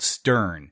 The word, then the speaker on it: Steorn: Ireland this uh called Stern that's spelled s e o r r n the O is silent at least in our language at they promised to